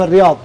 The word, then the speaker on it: الرياض: هنا في الرياض شوف الرياض نطقها صح ترى الرياض الرياض هي ضاد ضاد اي ضاد بس هم غالبيتهم يقولوا ضاد وانت قلتها صح اي